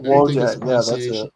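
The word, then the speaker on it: Wojtek: we're talking about Wojak, I think is the correct Wojak, yeah, that's it.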